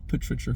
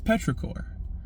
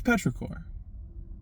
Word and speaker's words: petrichor: planet oh you know petrichor five. And then my buddy my old pal said now that's not how you pronounce it. It's petrichor.